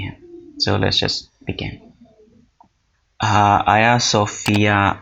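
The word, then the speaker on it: Ayasofya: So let's just بگن۔ آیا صوفیہ، جس کے سپیلنگز جو ہیں وہ ہے گیا صوفیہ ہیں، اور اس کو بولا ترکش میں آیا صوفیہ جاتا ہے۔ اس کی جو تعمیر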